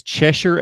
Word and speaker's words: Cheshire: give him credits for one pronunciation note cam it's Cheshire Academy and the only reason